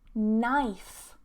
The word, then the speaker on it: knife: Silent K, now you'll notice that this combination of K and N, when it's together, we don't normally pronounce the K, okay?